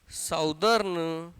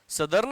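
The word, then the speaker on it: southern: दक्षिणी अर्धगोला या साउदर्न या सदर्न, जिसको सही प्रोनाउंस है सदर्न हेमिस्फेयर। अभी पढ़ने में अजीब लग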